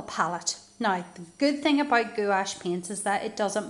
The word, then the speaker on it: gouache: university but in college my art teacher was always saying that pronouncing as gouache so I'm saying gouache and I just got